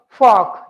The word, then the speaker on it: fork: So in the word fork, you don't say the r because there is a consonant. Now look at it, F-O-R-K. That K is consonant. So fork, not fork. R is silent here.